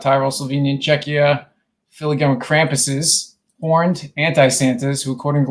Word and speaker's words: Krampus: Yeah, cramp Krampus.